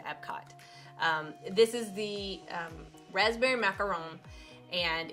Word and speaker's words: macaron: Now, it's macaron. And I'm saying it wrong. Macaroons are actually the cookies that are made from the coconut. So Disney blog actually has a wonderful little cheat sheet on that, so you can know how to pronounce them, because one has 1 O and one has 2 O's.